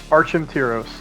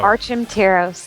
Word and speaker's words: Archimtiros: on the Twitter's at how was it pronounced again sir just so everyone knows archim tyos there you go archim tyos there you go everybody yes what does your